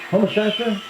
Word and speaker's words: Homosassa: I am going to pronounce this Homosassa, Florida. Is that right, Gloria? Homosassa? Very good.